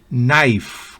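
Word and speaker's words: knife: dan índice dedo índice la k antes de n al comienzo de una palabra no se pronuncia por ejemplo ni rodilla nack maña destreza de uno nive cuchillo night caballero nolich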